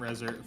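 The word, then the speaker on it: Reznor: musical bands ever 9 in Nails because Trent resar or Trent resar how the I can't never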